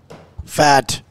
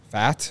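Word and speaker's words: Pfaadt: Fadd. Fat?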